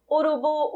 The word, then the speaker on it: urubu: Urubu, urubu, urubu. Conseguem perceber que o bu é a sílaba mais forte, que tem uma maior entonação?